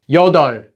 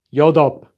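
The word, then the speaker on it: 여덟: there are some exceptions the most common exception is the Korean word for eight which is pronounced as yod not yop for this one you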